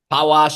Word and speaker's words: Palasz: to attempt it now palaz did I get that right paash in Polish Paz in English there you go how